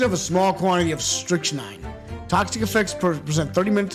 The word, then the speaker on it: strychnine: Strychnine, that's how you pronounce it. Strychnine? Okay. Strychnine.